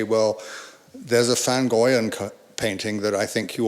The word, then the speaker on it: van Goyen: So this is a lovely landscape by Jan van Goyen, or van Goyen, as they say in Holland, which I've tried pronouncing